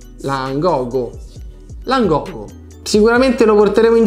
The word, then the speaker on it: Langogo: No, non è assolutamente come sembra, perché lui è un traduttore multilingua istantaneo di una marca impronunciabile. si chiama infatti Langoga. Langogo.